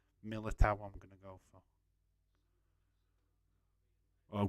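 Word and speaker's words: Militão: know how you put the correct pronunciation of that name is Miller Tower I'm gonna go for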